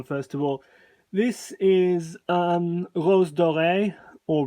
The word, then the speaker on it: Rose Doré: This is Rose Doré, or Rose Doré, if you want to pronounce it with an English accent.